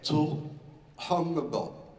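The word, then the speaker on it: Xu Hongbo: mi hanno insegnato a pronunciare questo nome, che è Zhu Hongbo. Si scrive con la X, U, Xu, e Hongbo all'inizio c'è un H.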